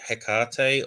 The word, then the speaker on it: Hekate: Yeah, so I mean, I say Hekate, or generally sort of something that's similar intonation. Obviously, the ancient Greek version, there was no hard H, and so it was more like a Hekate sort of sound.